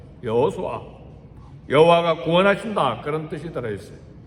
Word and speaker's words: 여호수아: 이름의 뜻이 뭔가 구약에서 예수의 이름 뜻은 이름 발음은 여호수아예요 여호수아 여호와가 구원하신다 그런 뜻이